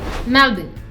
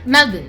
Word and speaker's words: Melbourne: this right melbourne melbourne well let's say the right way the aussie way melbourne did i get that right yes you got it right great okay melbourne so that's how you're